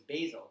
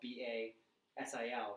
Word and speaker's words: Basil: I actually went to professional development this week, and I thought the guy's name was Basil because it's spelled Basil, but he goes by Basil.